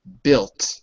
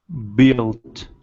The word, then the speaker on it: built: Built. Say that for me. Built. Good. Remember, the U is silent. Imagine it's B-I-L-T.